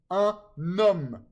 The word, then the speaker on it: un homme: The N here in un is usually silent, un. Okay, but in liaison, it's pronounced before the vowel sound. So un homme. Even though a H is not a vowel, okay, but it makes the vowel sound because H in French is almost always silent, okay? So homme, it's un homme.